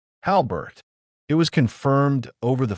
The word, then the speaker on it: Halbert: Howard?" she asked, mispronouncing the name like it was foreign. Danielle corrected her. gently. Halbert.